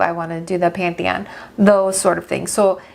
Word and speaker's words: Pantheon: So while we were there, we went to the Parthenon. Did I say it right this Pantheon? time? Pantheon.